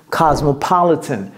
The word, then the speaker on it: cosmopolitan: en anglais c'est quoi c'est COS cas cas m pas le le vous voyez comment j'ai prononcer ça cas donc c'est comme si c'était un Z cas pas cas pas le le j'ai pas dit li Cosmopolitan Cosmopolitan par